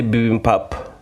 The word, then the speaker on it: bibimbap: I would say bibimbap.